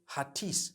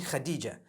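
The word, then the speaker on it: Hatice: h-a-t-i-c-e I would say hatis for that no it's actually Khadija in Turkish that's the way they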